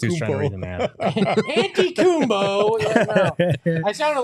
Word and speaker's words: Antetokounmpo: So yes, it's Antetokounmpo. Antetokounmpo. I sounded like when he first came to the league, everybody trying to pronounce it on there.